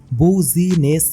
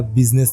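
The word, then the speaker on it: business: बहुत बड़ा एक पावरफुल बूजी नेस मैन हां सही बोल रहा हूं आप लोग ना बिजनेस वर्ड को एकदम अलग-अलग थोड़ा-थोड़ा करके प्रोनाउंस करना देखना बिजनेस नहीं निकलेगा वो आप लोग भी बोलोगे बिजनेस और भ परसन जिसका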